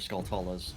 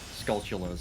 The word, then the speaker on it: Skulltulas: uh zelda skeletalis or skulltulas not sculpturals as they're supposed to be pronounced oh yeah cause like skull and tarantula yeah all right all